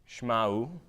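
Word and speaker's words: שמעו: If you could pronounce that, it says Shma'u, right? Shema means hear. If you have a u at the end of your word, it changes it to the imperative form, right?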